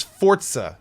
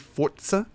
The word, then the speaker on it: Forza: It's I think it's Forza, right? You kind of say for and then put like almost a little T sound in front of the ZA, Forza.